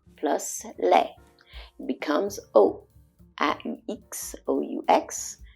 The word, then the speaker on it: aux: It becomes O. A-U-X, O-U-X. So the X is silent, it's still pronounced O.